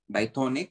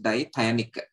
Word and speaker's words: dithionic: यहाँ पे फिर से स्पेलिंग करेक्ट कर लेना, इट इज नॉट डाइथोनिक, इट इज डाइथायनिक.